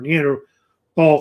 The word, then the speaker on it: Neanderthal: I would say Neanderthals or Neanderthal humans. Actually, the H is silent. It's Neanderthal, I actually say it.